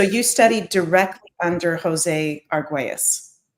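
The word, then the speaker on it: Argüelles: the teachings of Jose what's how do you pronounce his last name Eden I always say it wrong Dr. Jose Arguous. Jose Argues. Thank So you studied directly under Jose Arguas.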